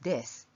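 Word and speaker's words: です: The joining word は is placed between the two things, and the ending is です。 You don't have to pronounce the ending う, so it is です。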